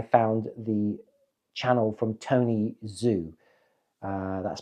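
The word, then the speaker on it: Zhu: to when I found the channel from Tony Zoo uh that's spelled z h u I'll put the link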